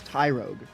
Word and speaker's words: Tyrogue: Oh, it's Tyro, which is a beginner. So, it's Tyrogue.